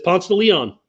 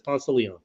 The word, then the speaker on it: Ponce de Leon: It's Albany, and I got Cairo finally, but it's always gonna be Albany, and it's Ponce de Leon apparently in Georgia. It's Ponce de Leon.